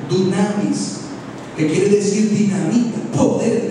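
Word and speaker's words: δύναμις: En el griego original, poder se escribe, se pronuncia dunamis, que quiere decir dinamita, poder de Dios.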